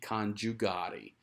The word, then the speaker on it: conjugare: The letter I, if you remember, is pronounced here. It's not actually functioning as a vowel. It's functioning as a consonant. And in English, that would get shifted into the German J. So that would be conjugare.